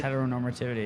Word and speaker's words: heteronormativity: It is, tell me if I'm pronouncing this wrong, Heteronormativity. Did I say Heteronormativity?